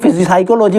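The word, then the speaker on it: psychology: अगला बच्चों है साइकोलॉजी साइकोलॉजी में पी जो साइकोलॉजी पढ़ा जाएगा पी साइलेंट होती है साइकोलॉजी का मतलब होता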